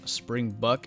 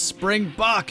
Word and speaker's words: Springbok: opposite drops featuring Springbok apparently I've been saying spring buck I just like kind of pronounced it that way I don't know somebody commented it was like it's Springbok and I was like okay